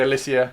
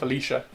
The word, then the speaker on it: Alicia: Yeah, I say Alicia because I think it's a gorgeous name, whereas she calls herself Alicia.